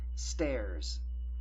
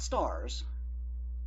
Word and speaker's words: stairs: Stairs. Now, this is not stars. It is stairs.